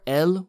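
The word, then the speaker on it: él: that you've seen before el but with an accent they are pronounced identically but the the moment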